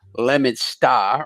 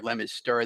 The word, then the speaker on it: Leominster: I live in a city called Leominster or Leominster, depending on how you pronounce it.